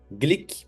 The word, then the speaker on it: Glyk: você pode acessar @ glic Brasil o k não temos o a né É gyk tá bom glick Brasil no Instagram mas pronuncia glic vamos começar o vídeo